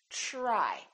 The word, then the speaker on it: try: So the TR together make this sound almost like a CHR, almost like ch, but it's a softer one. It's try, try.